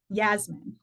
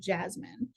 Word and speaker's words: Jasmin: was uh it will is j-a-s-m-i-n Yasmin that's how he pronounced it but a lot of people call him Jasmine um and he kind